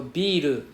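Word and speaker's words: ビール: So biru is beer, biru is building.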